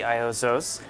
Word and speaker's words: Iozzo: Well, in the U.S. we say Iozzo's. Okay, Iozzo's. Iozzo's Garden of Italy. And in Italy we say Iozzo, because there's no really I in the Italian language.